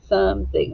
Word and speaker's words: something: at the word sum if this was following the vowel consonant e rule it would have a long o something i don't say it that way something makes a short u sound okay so let's write